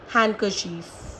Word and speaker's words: handkerchief: There is no rule for these words, but these are some words in which D is silent. For example, handsome, Wednesday, sandwich, handkerchief.